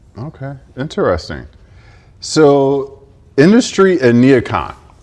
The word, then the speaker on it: NeoCon: So, industry and neocon. Neocon? Am I pronouncing that?